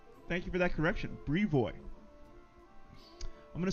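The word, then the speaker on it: Brevoy: to rule barrage says in my opinion it is pronounced probably briovi Bri boy all right thank you for that correction Brie boy I'm gonna say you're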